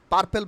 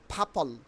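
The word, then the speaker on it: purple: serious ওকে ফিও ফিও ফিও দেখো আমরা কিন্তু পার্পেল বলতাম তাই না পার্পেল না এর উচ্চারণ হবে ফাপল ফাপল ফাপল ফাপল ফা আকারে ফা পল ফাপল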